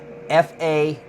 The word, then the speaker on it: Faneuil: So this next site, nobody has ever kind of came up with the correct pronunciation. Even the park rangers said that. It is Faneuil.